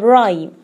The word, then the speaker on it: rhyme: Second rule, a silent H often follows the letters C or R. As examples, choir and rhyme.